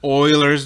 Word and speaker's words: Euler: And we do a quick search on E, and E is known as Euler's number. Yes, that's how you pronounce it.